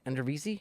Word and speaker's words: Eredivisie: And there's like Ricardo Pepi just finished I think second or third in goals in the I can't pronounce it. What's the Dutch league? Eredivisie?